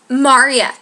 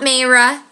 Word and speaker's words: Marya: Marya. My name is Marya. Not Mayra. M-A-R-Y-A. Marya. Marya. 2 syllables. Not Maria, not Myra, not Mayra, not Mara, Marya.